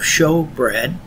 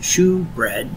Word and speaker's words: showbread: Here we see a review of another piece of furniture in the tabernacle, the table of showbread, or sometimes it's pronounced shewbread, S-H-E-W-B-R-E-A-D.